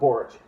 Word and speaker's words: Boric: the region well now under their president Gabrielle boric I think I'm saying that name correctly um hey uh lee Camp how do we print how do we pronounce that again orange Gabriel Borge thank you well this is just the whole